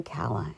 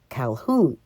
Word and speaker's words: Calhoun: early october 1946 and kala and i can't believe i pronounced my name wrong calhoun watched the fading sun